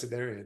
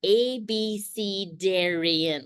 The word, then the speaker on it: Abcarian: do you pronounce it oh abaran totally see that's how I say it apparently it's abcarian like I can't even do that with my mouth it's you have to say the letters ABC Darian right I